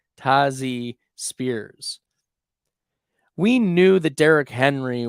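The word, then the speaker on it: Tyjae Spears: on our rosters okay let's keep her moving tazy Spears that's right that's how it's pronounced tazzy Spears not Tai J tazi Spears we knew that Derrick Henry was coming into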